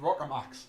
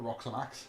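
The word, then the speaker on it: Rockomax: You always get the name wrong for them. It's the Rockamax, not the Roxomax.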